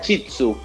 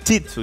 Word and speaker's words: Shih Tzu: milenco primero que todo Cómo se pronuncia esta raza porque escribe un poco ahí medio la raza se pronuncia chitsu chitsu ya Este es un